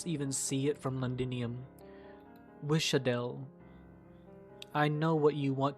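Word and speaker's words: Wiš'adel: Pronouncing it like it's like a normal S. Oh, like Sha, then Wisha. I want the flames to spread so far you can even see it from Londinium. Wishadel.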